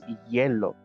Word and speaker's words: hielo: Hilo is the ice. No, you're very close. Ice is hielo. Yeah. Hielo. It's spelled the same way, but with an E. Hielo. Hilo is a string.